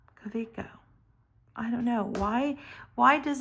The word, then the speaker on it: Kaweco: And I love this new, I know I'm always going to say it wrong because I always say Kaweco, but it's Kaweco.